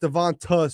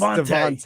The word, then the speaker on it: DeVonta: It's not pronounced Devonta Smith. It's Devontae. Devontae.